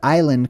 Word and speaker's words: island: This is where the word island comes from. That's why it's spelled with an S. If you ever wondered why island has a silent S on it, it's because originally it